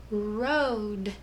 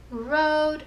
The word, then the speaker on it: rode: Okay, the O says O, like in the word road. The cowboy rode off into the sunset. Road. Think to spell it. Sound it out. Ode. Don't forget that's rod, like a curtain rod. Don't forget the silent E.